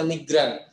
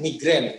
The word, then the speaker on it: migran: Bacanya migran, jangan migran. Kalau pekerja migran yang lain, pekerja yang pusing gitu ya.